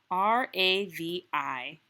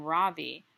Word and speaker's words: Ravi: R-A-V-I. Mrs. Beam has been calling him Ravi, but when he introduced himself earlier, I'm pretty sure he said his name was Ravi, with the accent on the second syllable.